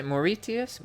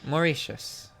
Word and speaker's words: Mauritius: very pretty beaches yes how do you say more ETS Mauritius how do I save Mauritius Mauritius yes it's I learned new